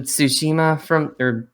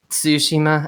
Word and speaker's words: Tsushima: And I'm also really looking forward to Ghost of Tsushima Tsushima. I think that's how you pronounce it, because the T in front of it, because Tsu, not Tsu.